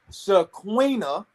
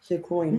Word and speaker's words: Shaquina: Okay, so they corrected me. It is pronounced Shaquina Shaquina. Diaz.